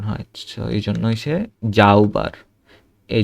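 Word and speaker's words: heute: কারণ এস এর সাথে যদি এ ই আই ও ইউ থাকে বা ভাওয়েল থাকে, সেটা জয়ের মতো উচ্চারণ হয়। তো এই জন্য হয়েছে জাউবার, এই যে আউটা আসছে মাঝখানে।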